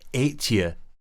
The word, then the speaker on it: Ètive: McIntyre's mention of Buachaille Ètive Mòr gives us a valuable hint as to how Ètive is, or at least was, actually pronounced in Scottish Gaelic, Ètive.